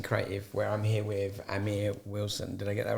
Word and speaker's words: Amir Wilson: of the promising creative where I'm here with Amir Wilson did I get that right yes you did